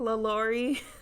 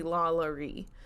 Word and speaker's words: LaLaurie: apologize if i say laurie just because it's technically la la ree because she's french well her family is